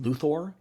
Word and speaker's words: Luthor: I wonder if actually the name is supposed to be pronounced Luthor, like a science fiction-y name.